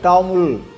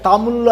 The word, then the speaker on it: தமிழ்: அவர் கருநிறம் படைத்தவராக இருந்த காரணத்தினால அவர் புதைக்கப்பட்டு இன்றைக்கு வழிபாட்டில் இருக்கக்கூடிய அந்த கோயிலை டெம்பிள் ஆஃப் டாமுல் பிளாக் அப்படின்னு சொல்கிறாங்க. கருப்பு தமிழனுடைய அந்த கோயில் என்று சொல்லுகிறார்கள். அது என்னன்னாக்கா தமிழ் அப்படின்னு ஒரு தவறான உச்சரிப்பு.